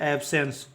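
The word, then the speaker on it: abscess: देखिएगा यहां पर भी सी जो है एस के बाद है तो सी साइलेंट होगा ठीक है तो ए बी एस सी E double S का उच्चारण करेंगे एब्सस ठीक है एसेस इसको पढ़ते हैं और इसका मीनिंग होता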